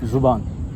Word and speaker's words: ज़बान: अच्छा, यहाँ पे एक वर्ड इस्तेमाल किया अभी इसने, शाहरुख ने, ज़ुबान। इसका सही प्रोनाउंसिएशन ज़ुबान है या ज़बान है? ज़बान। और ज़ुबान? ज़ुबान भी कहते हैं।